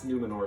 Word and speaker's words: Númenor: They pronounce Númenor so fast. I was saying they really roll the R's.